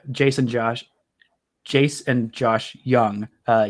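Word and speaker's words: Jung: josh jace and josh young uh young is spelled with the j in case you didn't know j j u and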